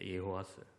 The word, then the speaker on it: 예호아스: 여러분, 근데 이게 우리 할아버지들이 이 발음에서 요아스라는 것이 원래는 예호아스입니다. 예호아스.